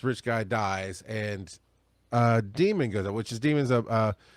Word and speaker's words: Daemon: The first book is called Demon by Daniel Suarez, and it's spelled like a computer demon, Daemon.